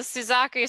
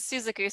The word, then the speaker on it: Suzaku: well there's the uh there's the americanized version which is the suzaku seven and then there's the japanese version which is suzuku seven these are these are